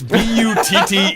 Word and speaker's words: Butte: It's Butte, and you're dumb enough to name your town.